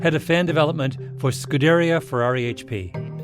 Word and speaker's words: Scuderia: of fan development for Scuderia Ferrari HP. Your pronunciation is it's strongly American. It's more Scuderia Ferrari. I'm still working on rolling my Rs.